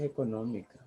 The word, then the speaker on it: económica: Claro que sí, crisis económica. No había venta. Quien me compraba todo ya no me compraba. Crisis económica. Económica lleva tilde en esta O, en la segunda O. Es una palabra esdrújula. Económica.